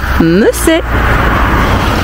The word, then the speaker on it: Messeix: Alors ça s'écrit M-E-2-S-E-I-X, mais on dit Messey.